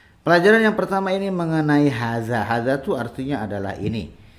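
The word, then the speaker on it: هذا: Jadi haza itu cara mengucapinnya, haknya itu memanjang 2 harokat karena ada alifnya di situ.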